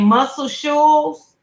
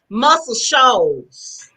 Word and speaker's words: Muscle Shoals: me pronounce his name muscle shoes alabama muscle shoes s-h-o-a-l-s oh girl that's another jet that's another one of my jasper spots i love it's called muscle shoals okay yeah so multiple